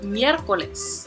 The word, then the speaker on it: miércoles: Another example, miércoles. Miércoles, meaning Wednesday, has 3 syllables. In this case, the first syllable is going to have the accent.